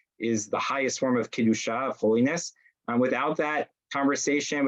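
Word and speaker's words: קדושה: the highest form of Kedusha, of holiness. Without that conversation, without that guide, without that communication and that sanctity, you pronounce it a little bit different and you have the word Kedesha, which is very much not a holy endeavor.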